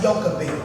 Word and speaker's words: Jochebed: In the Bible, her name is spelled like Jochebed, but it's pronounced Jochebed.